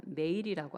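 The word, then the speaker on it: מעיל: 자, 이 겉옷에 해당하는 히브리어가 이렇게 발음합니다. 메일이라고 합니다.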